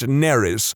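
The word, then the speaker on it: Nerys: exactly the same as a Welsh name, which is pronounced Neris, which is entirely not what I was going for.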